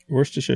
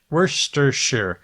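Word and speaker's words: Worcestershire: and ending in Shire Worster sauce worsters Sher yeah you don't pronounce it like Massachusetts the city in Massachusetts how the place name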